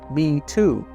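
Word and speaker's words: 米兔: So internet users use the phrase rice bunny, which is pronounced in Chinese as Me Too.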